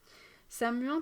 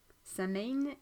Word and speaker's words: Samhain: soit parvenu jusqu'à nous samuin peut être écrit de plusieurs manières mais toutes sont prononcées samuin Samin et le mot irlandais pour le mois de novembre et samwiin et le mot gaéque écossais désignant la tousin la période de samonos